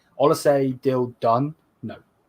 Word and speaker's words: Olise: Is the Olos, I keep calling his name wrong. Olise deal done?